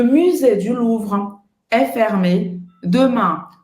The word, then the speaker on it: musée: Aqui é outro biquinho francês, que é o U. Você vai fazer a boca do U e vai falar I. Musée. Musée. Aqui o som do E no final existe em português, então aqui não tem problema.